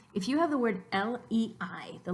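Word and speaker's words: leí: And we know it's not le, it's lei. And how can that be two different syllables is because the I, which is a weak vowel, it has an accent mark, so it gathers its own strength enough to start its own syllable.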